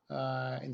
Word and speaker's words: hay: So to express those ideas of there is or there are, in Spanish you only need one word. That word is spelled H-A-Y, and it's pronounced I.